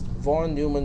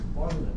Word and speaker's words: von Neumann: One of my students from the previous class, it is pronounced as von Neumann, not von Neumann.